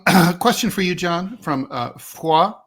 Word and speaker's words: Foix: Um question for you John from uh Fua 6624. I'm going to use the French pronunciation.